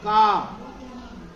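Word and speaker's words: calm: why because some letters are silent for example काम what is spelling of काम सी ए एल एम एल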